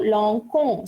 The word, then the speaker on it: lançons: So what I am doing, I am adding a sedil here. So I will be pronouncing this as the same sound as the remaining verb conjugation.